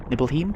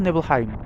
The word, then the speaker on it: Nibelheim: to yet called Nibelheim nibble Nibelheim I go for Nibelheim pronouncing it like the German Way with E before I